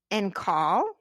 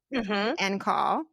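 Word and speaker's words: en caul: and my third baby, they were both born in call, which is spelled E N C A U L. N call.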